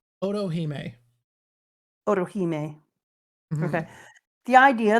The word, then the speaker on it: Otohime: Is it Orohime? Otohime.